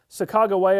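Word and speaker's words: Sacagawea: the fire at night Chicago waya our Chicago Waya is certainly the way we pronounce it they want to know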